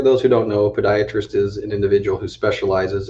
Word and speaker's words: podiatrist: I think it's spelled pediatrist. No, Todd, it's actually Poe. Podiatrist. Pediatric, perhaps, is maybe what you're thinking.